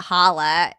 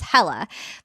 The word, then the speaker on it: Hala: Because my name is actually not Hala in Arabic, it's Hela. But everybody calls me Hala now that I'm kind of have a podcast and everything like that because it's spelled like that.